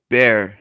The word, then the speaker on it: Bexar: What's San Antonio's county is called? Bear, and it's spelled Bexar. Jesus Christ.